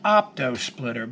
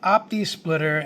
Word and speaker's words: opto splitter: Now, they're pronounced optosplitter, but I call it optsplitter. It's not an error. It's just the way that I talk. And you'll probably hear me call it opisplitter.